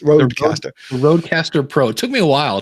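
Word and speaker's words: RØDECaster Pro: The Procaster, is it? No, it's Rodecaster. Rodecaster. Rodecaster Pro. It took me a while to It's like you just take Row, Pro, and Cast and mix up a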